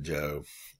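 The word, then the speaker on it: Zhou: it this way or you can write this way you still pronounce it joe you uh when you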